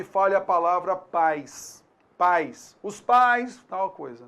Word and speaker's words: pais: Você então vai notar aí que a gente tem uma semivogal i, tá? Pais, houve um declínio, né? Então o som ele diminuiu. Pais. Muito diferente da palavra país. Pronuncie então pais. País. Você notou aí?